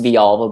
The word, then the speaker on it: Villalva: It's actually pronounced Villalva, but it looks like Villalva.